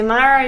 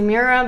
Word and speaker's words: Mira: You can say Myra, you can say Mirror, but just spell it right.